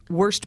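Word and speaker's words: Wurst: it all looked amazing I do feel like I should say worst bar for all of our German speaking friends it is spelled w-u-r-s-t because I think some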